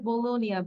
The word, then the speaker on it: bologna: এটার উচ্চারণটা হবে bologna, B-O-L-O-G-N-A, bologna.